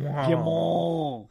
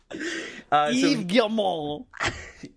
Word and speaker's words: Guillemot: Nasal. Mall. Guillemot. We are so tolerant of other cultures on this podcast. I'm just telling you how to correctly pronounce his name. Yves Guillemot.